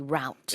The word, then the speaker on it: route: people may say yeah I think in North America they see route exactly but you and me Sue we we've spent a lot of time in the UK so root is the pronunciation we use and that's the uh